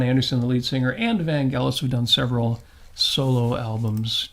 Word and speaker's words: Vangelis: It's Chariots of Fire by, Vangelis? Vangelis, thank you. Yes, Vangelis. Very good. Vangelis. Thank God. Oh, what a great guy. Nice. Yeah. Well, I always pronounced Vangelis.